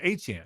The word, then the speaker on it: Etienne: And now we learned that the proper pronunciation of the name is Etienne, just like the running back in Miami. It's the phonetic is A-CHAN.